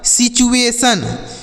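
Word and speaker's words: situation: यहां पर हो गया सिचुएशन एस आई टी यू ए टी आई ओ एन इसे सिचुएशन नहीं पढ़ेंगे सिचुएशन पढ़ेंगे यहां पर जो टी का उच्चारण होगा वह च के रूप में सिचुएशन मतलब होता है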